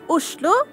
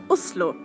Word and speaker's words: Oslo: In Norwegian, it's pronounced, Oslo. or if you're posh, Oslo.